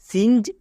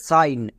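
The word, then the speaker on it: sign: জন্য দন্তন্য মানে আইন এখানে কিন্তু জি এর উচ্চারণ হবে না তাই এটা খুব ইম্পর্টেন্ট যেমন সাইন একে অনেকে ভুল করে উচ্চারণ করে সিনজ বা সিন কিন্তু এরকম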